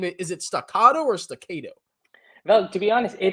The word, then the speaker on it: Stockado: I like Stockado, like a tornado. You It like rhymes.